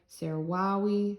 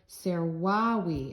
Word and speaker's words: servavi: third form, servo, servare, servavi, and you see the stem here, servau. You know that V, the V's sound like W's. So servau. The V's sound like W's in classical pronunciation, which is what we use.